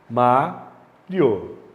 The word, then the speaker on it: Mário: Mario. Acentua porque a paroxítona terminada em ditongo. Separa o i e o o. Mario. O que aconteceu? Quem é a sílaba tônica? A antepenúltima. Todas as antepenúltimas são acentuadas.